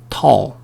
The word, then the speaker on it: tall: 이것도 틀린 발음입니다. 어떻게 해요? O와 I의 중간 발음. tall, tall. He's tall. He's tall. 중요한 건 뭐다? L 앞에 A가 나올 때 O라고 발음하시는 거 아닙니다. O 발음 아니에요.